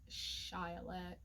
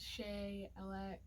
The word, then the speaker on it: CheyAlek: company and so my official business name is shyalek um it's often mispronounced as shea elec um some people try to read it all